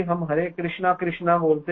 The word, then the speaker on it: कृष्ण: जगह गलती से कृष्ण जैसे अंग्रेज लोग कृष्ण नहीं बोल पाते कृष्ण कृष्णा बोलते कृषणा कृ तो भगवान कर